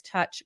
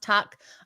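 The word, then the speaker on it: Tuch: I think Alex touch comes out here and has a great night it's pronounced tuck I can never pronounce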